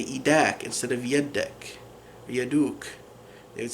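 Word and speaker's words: يد: So in some of the dialects, instead of saying yud, they'll say eid. So we'll do like a long E sound, eid, for hand.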